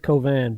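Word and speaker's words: Cauvin: Colvin JL Kovan JL covet she hey you VI n it doesn't it's not spelled the way it sounds he's pronounced it Kovan but it's C a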